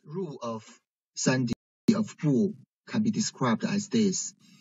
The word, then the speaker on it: 不: So if bu is followed by a first tone, second tone, and of a third tone syllable, there's no change in tones. But if bu is followed by another fourth tone syllable, so its tone change into second tone, right?